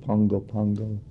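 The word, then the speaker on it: Pago Pago: we stopped at uh I think they pronounce it Pungo Pungo and uh we stopped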